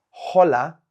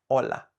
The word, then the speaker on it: hola: say h h Hello the H in Spanish is silent so it's not hola it's hola hello when introducing yourself